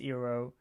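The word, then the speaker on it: Iroh: some of the pronunciation instead of aang it's on instead of iro it's ero soka is or instead of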